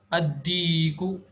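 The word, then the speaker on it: الديك: Ad-diku, here dal is from huruful shamsiya.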